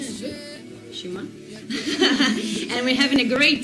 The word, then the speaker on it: Szymon: Szymon, right? The pronunciation is good. Szymon.